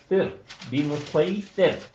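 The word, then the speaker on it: بمصيطر: نیچے جو ہے بمسیطر سورہ غاشیہ، یہ آپ نے اس کا تلفظ جو ہے وہ صاد سے ادا کرنا ہے.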